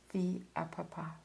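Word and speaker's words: fils à papa: Now my best pronunciation I don't speak French but my best pronunciation of this is via a papapa.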